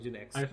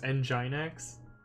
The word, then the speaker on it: nginx: and Gen X and Gen X for the longest time I thought it was nginx which sounds pretty vulgar but that was my only say it inside my head thing until somebody actually pronounced it for me oh this one this